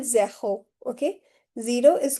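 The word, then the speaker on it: zéro: Zero is called zaho.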